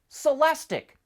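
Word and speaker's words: Celestiq: As you probably know, all of Cadillac's new EVs end in IQ, which is supposed to be pronounced ick, lyric, celestic.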